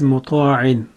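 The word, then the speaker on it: مطاعٍ: have is muta'in, and it can be divided into three syllables. The first syllable we have is Mim Dhamma Mu. Mim is a light letter, it has Dhamma on top of it and it will be prolonged for one count.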